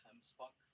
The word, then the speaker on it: gemsbok: But across the way there, the gemsbok, the one with the gray and white with the really long horns. Their name can also be pronounced gemsbok, comes from the Dutch, and they are also